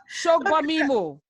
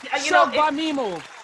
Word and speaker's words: Shogbamimu: Shogbamimu. Thank you. Well said. Well said. Say it, Sina. Phonetically. Shogbamimu. Shogbamimu. Exactly. Shogbamimu. Shogbamimu.